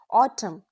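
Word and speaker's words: autumn: ऑटम column dam कंजम तो pronunciation किस तरह से होता है लिखा जाता है ए यू टी यू एम एन एन लिखा जाता है लेकिन प्रोनाउंस नहीं होता इट्स ऑटम सी ओ एल यू एम N column we don't stress the N sound don't say ottoman just say ऑटम you know soft and ending.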